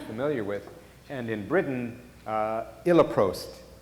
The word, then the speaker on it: Iloprost: And in Britain, Iloprost, I think that might be the correct pronunciation, is a common nebulized prostacyclin that is used more in Britain and in Europe.